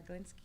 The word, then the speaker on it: Glinski: what they do we have the wonderful golinski here am i pronouncing it right yes it's perfect i've pronounced